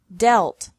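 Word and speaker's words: dealt: met lead lead lead another group has EA pronounced differently from the present to the past and past participle deal delt delt mean meant meant read red red he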